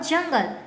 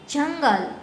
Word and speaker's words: जंगल: अब है जंगल, लेकिन इसके ऊपर ये आप सोचिए कि इसके ऊपर ये डॉट नहीं है, तो हम इसको किस प्रकार से बोलेंगे? जगल। देखिए इसके उच्चारण में फेर हुआ कि नहीं हुआ? अब हम इसके ऊपर डॉट लगा देते हैं तो बनता है जंगल।